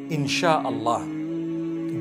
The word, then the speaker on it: Insha'Allah: They pronounce it, they pronounce the S-Y the way we pronounce S-H. So they can write it how they want, for as long as when people read it, they read it Insha'Allah.